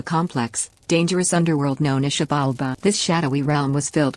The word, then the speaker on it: Xibalba: The Maya underworld, Xibalba, pronounced Xibalba, was not a place of punishment like the modern Western concept of hell.